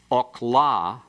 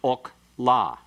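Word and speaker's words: אָכְלָה: The metheg opens that syllable that in the first example is closed. The closed unaccented syllable is a what? What do we call that vowel? Kametz hatuf. And so it's pronounced okla. And it's unaccented, and it means food. It looks the same, it's spelled the same, but it's pronounced differently and has a totally different meaning.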